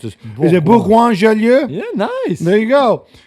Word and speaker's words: Bourgoin-Jallieu: I can't even pronounce this. Is it Bourgoin-Jallieu?